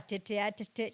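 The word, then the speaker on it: tête: Nilisikia ati wazee wapatane, we can have a tete. Nikasema boss. Sasa hiyo tete, hebu ni pronounce kididi vile inatakikana. Is it French? Yep. Tete. Yes, tete. It should be tete.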